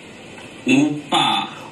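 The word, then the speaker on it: 오빠: Oppa. Oppa. Appa. Appa. Did they mispronounce right after? Yes. So, oppa, appa. Appa, ow. It's like, ow, appa, I'm in pain.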